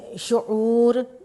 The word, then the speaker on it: شعور: ہے اعراب کی مدد سے درج ذیل کا تلفظ واضح کیجئے۔ یہ اعراب ہیں بچوں، اس شعور آپ ادائیگی کریں گے تو آٹومیٹیکلی اعراب آپ